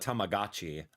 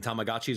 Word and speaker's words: Tamagotchi: what is it tagoi I used to call it tamagachi I'm so sorry I've been mispronouncing it my entire life since I was a small child and Tamagotchi were this small little